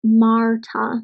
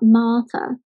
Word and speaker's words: Marta: I pronounce the R in a much more recognizable way than maybe someone from Oxford in England who possibly wouldn't pronounce it at all. So I have to be aware that some of my students will have been taught not to pronounce the R sound, but then they meet me and they go, oh, she's called Marta, not Marta.